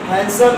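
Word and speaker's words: handsome: हैंडसम में मोर हैंडसम, most हैंडसम 2 syllable है। हैंडसम ये यहाँ पर डी हमारा साइलेंट होता है इसलिए हैंडसम नहीं बोलते हैं, हैंडसम बोला जाता है।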